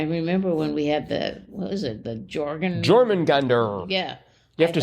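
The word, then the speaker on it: Jörmungandr: And I remember when we had the Jormungandr.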